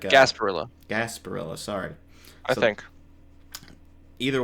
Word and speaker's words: Gasparilla: doing this uh for for I think it's Jasper Barillo I think I'm pronouncing that correctly um which is like a Gasparilla Gasparilla sorry I think either way it's a